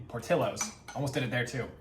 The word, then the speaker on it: Portillo's: past 4 years, saw Portillo's and thought Portillos because the LL. There's a double L. So I'm like, oh yeah, naturally that's how you pronounce it. This is Italian Americans, not Mexican Americans.